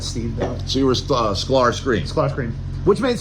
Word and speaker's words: Sklar: Sklar. I know how to. Okay, exactly like it's spelled.